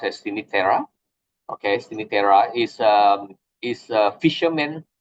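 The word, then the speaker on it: Cinque Terre: Pronounced as Sinitera.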